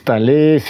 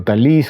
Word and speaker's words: Talese: libro de gay tales no sé si es tales o talis Cómo se pronuncia Pero bueno Es nacido de Nueva Jersey